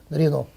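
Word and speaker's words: Renault: Рено пишется 7 букв Рено.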